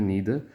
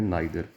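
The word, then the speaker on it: neither: अच्छा, कुछ कंट्रीज़ में इसकी प्रोनाउंसिएशन है नीदर और कुछ जगह पे प्रोनाउंसिएशन है नाइदर.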